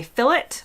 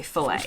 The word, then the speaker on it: fillet: French words for example in the UK many people say fillet while in the US we say fet in the UK many